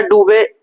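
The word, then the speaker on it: Duve: ड्यूब या डूबे दोनों प्रोनाउंसिएशन होता है।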